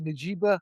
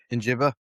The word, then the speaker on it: Njigba: And I always mispronounce it. I say Najiba. I mean Njigba.